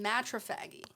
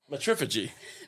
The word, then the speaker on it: matriphagy: A behavior called matrophagy. Matrophagy. Matrophagy? What? Matrophagy? Is that how you're supposed to pronounce it? Or is it? Matriphagy. Matriphagy. Not matrophagy. Matriphagy.